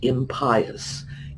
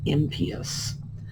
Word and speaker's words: impious: It's pronounced impious. So, if you are able to dissect it, pull the word pious out, you're going to find it's not only not going to help you pronounce it, it's actually going to hurt you.